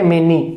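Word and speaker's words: many: मैनी, note ए मेनी, मैनी, तो एम ई एन आई, मैनी।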